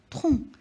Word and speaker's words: tronc: Et il y a une lettre muette à la fin, c'est la lettre C.